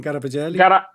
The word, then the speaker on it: Garavaglia: We have Giancarlo Giorgetti, Massimo Garavaglia. Am I pronouncing Garavaglia? Garavaglia.